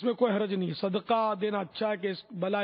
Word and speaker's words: صدقہ: معنی, اور ایک ہے دال پر زبر صدقہ اس کے معنی, دونوں فرق ہے. جب دال ساکن, جیسے ہمارے یہاں دال ساکن ہی بولتے, صدقہ بولتے ہیں. صدقہ یہ خیرات, صدقہ خیرات یہ غلط تلفظ ہے.